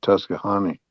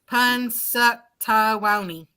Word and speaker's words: Punxsutawney: Yeah, well, I think it's pronounced Tuscahony. Punxsutawney.